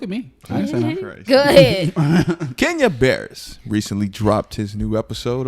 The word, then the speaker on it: Barris: has it mm-hmm industries right now can't you birds dropped his new show can't you birds any bird bears bears that was burst can you bear okay Kenya bears dropped his new episodes because you're pronouncing someone's